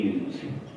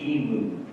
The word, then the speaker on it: emu: And of course, the emus. Now, if you go to Australia, do not pronounce this bird's name as emu. They'll laugh at you, know you're a tourist immediately. It's pronounced emu.